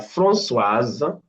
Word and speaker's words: Françoise: We have Françoise, the S here is pronounced now.